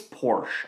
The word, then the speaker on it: Porsche: It's a Porsche. Porsche. Sorry, Porsche. It's Porsche. Okay, it's actually Porsche. I'll admit it's Porsche. That's the proper way to say it, but I say Porsche.